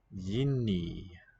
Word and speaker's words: jiný: Jiný. Different. Long Y.